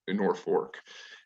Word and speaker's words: Norfolk: german stubborn german fashion the uh locals still to this day pronounce it north north fork and the river project